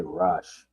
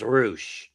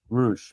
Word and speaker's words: Rush: I'm just going to throw a wild ball and just say Rush. Cuz I don't even know who's going to end up winning. It's pronounced Roosh. Roosh, basically.